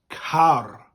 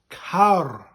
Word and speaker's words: car: and this one well in english it's ca and in welsh it's kar khar a rolling a car uh the